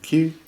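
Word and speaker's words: Kew: There's a great little park in town called Q. Yeah, K-E-W. Is that how you pronounce it? K-E-W. Q. Yeah, Q.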